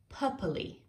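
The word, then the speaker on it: papillae: A cat's tongue has a lot of small bumps on it called, I had to look up how to pronounce this word. It is papilli, papilli.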